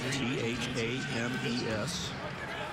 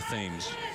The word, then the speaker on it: Thames: And the Thames is not spelled like T-I-M-S. No, no. T-H-A-M-E-S.